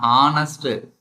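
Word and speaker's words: honest: ஏன்னா ஆனஸ்ட், ஆனஸ்ட். So first letter என்ன வருது? ஆ. அவர். ஃபர்ஸ்ட் லெட்டர் என்ன வருது? ஆ வருது.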